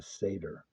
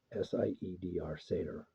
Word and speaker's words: Seidr: Um, Technically, what I identify within that shamanic family is as a satyr. And you spell that Seidr. Seidr, satyr.